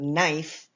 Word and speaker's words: knife: knife okay the word knife sounds like it begins with an N but it really begins with a k and that K is